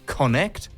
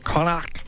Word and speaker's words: Connacht: It's the Irish club Connacht. Is that how you pronounce it, Martin? Do you know? Connacht.